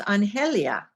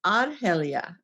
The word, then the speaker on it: Arelia: funny because her name we always thought her name was anelia and it wasn't until years later I found out we were mispronouncing it it was arelia like with an AR I'm like well we